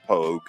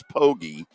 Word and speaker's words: Pogue: My buddy Greg Pogue, who I nicknamed years ago Pogue. Everybody else, it's Pogie, but I went with Pogue because if you spell it out, Pogue is the way it looks.